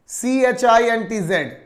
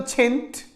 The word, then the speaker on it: chintz: Number 1 आपको यहां पे छिंट, CHINTZ, CHINTZ, chint. Guys, what is chint? Chint is a British pronunciation of छीट।